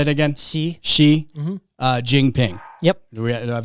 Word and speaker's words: Xi: How do you pronounce the president's name? Xi. Say it again. Xi.